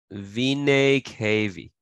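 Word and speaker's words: venae cavae: maybe over here uh plural is vinay KV that's how you pronounce it you add an e at the end like I'm just telling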